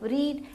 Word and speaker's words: read: मतलब ऑलरेडी, पढ़ना मतलब रीड, तो रीड, रेड, रेड, लेकिन हम लिखते उसको रीड ही है, READ स्पेल करेंगे, लेकिन उसका जो प्रोनाउंसिएशन होता है वो रेड हो जाता है।